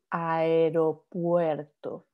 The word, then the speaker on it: aeropuerto: So when you have like in aeropuerto, you have there like the A, the E, the U, the E all together, you pronounce all of them. So that gets you aeropuerto.